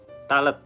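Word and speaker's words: Tallet: Talet bacanya gitu ya nemuin papirus kuno yang ternyata catatan logistik pembangunan piramida.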